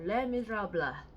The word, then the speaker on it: Les Misérables: Welcome to Victor Hugo, Les Miserables. Yes, that's how you pronounce it.